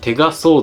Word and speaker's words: テガソード: Cái này được gọi là Tega Sword. Phát âm của nó giống như câu nói "tay là kiếm" trong tiếng Nhật.